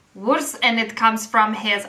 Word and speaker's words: WRS: how to pronounce this because it is spelled wrs but yeah it is pronounced as as one thing it's worse and it comes from